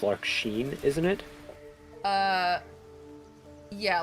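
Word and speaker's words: Larxene: going to mispronounce uh I think it's actually pronounced Lark Sheen, isn't it? Uh yeah, Lark Sheen.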